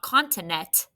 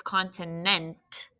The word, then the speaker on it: continent: It's not continent. It's continent. There's a tricky blend at the end, right? It's NT, continent.